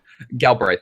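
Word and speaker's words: Galbraith: out okay and the gal braith am I saying that right gal braith gal braith is how I've always pronounced it when I've met him okay okay so there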